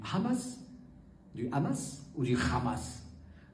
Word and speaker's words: Hamas: du Hamas ou du ramas Hamas c'est la prononciation arabe Hamas et à la française voilà puisque je suis français je dis hamasi mais tous ceux qui